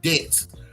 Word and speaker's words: debt: of people use because when you you say the word debt you say d t debt but debt is spelled D E BT there's a silent B in debt so people got to